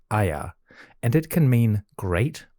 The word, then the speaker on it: Aya: This symbol, which is a stylized pillar or column, is pronounced Aya, and it can mean great or possibly elder.